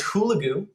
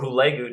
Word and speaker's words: Hulagu: we learn about is Hulagu or Hulagu depending on on how you pronounce it and he is